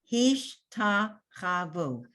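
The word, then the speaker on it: השתחוו: Hish, that's the end of the syllable. So you don't have any sound under that shin. It's a stop. Hish. And then you have ta, cha, and you have a vav with an u vowel, vu.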